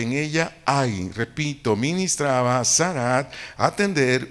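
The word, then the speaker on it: sharat: a fondo esta palabra ministraba del vocablo hebreo sarat s h a r a acento en es a t dtt sarat su su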